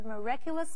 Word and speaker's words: miraculous: 这篇文章的第一个重点，我们看 miraculous 这个形容词。注意它的重音是在 ra 这个音节念成 miraculous。miraculous 是指神奇的或不可思议的。例如，the fairy used her miraculous power to save the princess。这位仙子使用她神奇的力量救了公主。miraculous 也指惊人的，例如，the basketball